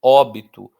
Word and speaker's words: óbito: Eu não falo obito, obitou, eu falo óbito. Não falo exito, não falo exitô, eu falo êxito.